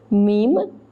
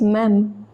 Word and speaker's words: même: Alors, so, elles peuvent devenir représentants, ou même, again don't pronounce it as meme, it is même.